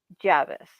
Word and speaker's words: Javice: to say her name her name is Charlie Javis and who is Charlie Javis tell us a